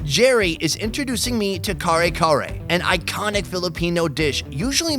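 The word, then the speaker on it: kare-kare: The very first thing I wanted to try is the kare kare.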